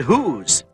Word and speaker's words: whose: will and whistle but in a few words the W is silent and only the sound of the H is heard like in the words whole and whose these are exceptions to